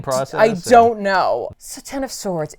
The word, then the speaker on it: X of Swords: So Ten of Swords. It is pronounced Ten of Swords. It's not X of Swords, even though everything else having to do with the X-Men is X.